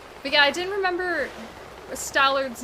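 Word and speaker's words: Stallord: it in chat, and I typed it as Stallard spelled like Mallard, and it was like, you do realize that it's Lord, like the Lord of the Stallmasters, not a duck.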